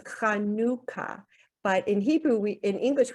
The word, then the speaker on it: Hanukkah: people do an h and in Hebrew it's pronounced hanuka but in Hebrew in English we write Hanukkah